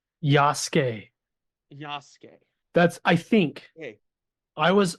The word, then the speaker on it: Yasuke: that's what it looks I saw someone online complaining about people pronouncing it as yasuke and said it's Yas so I don't know how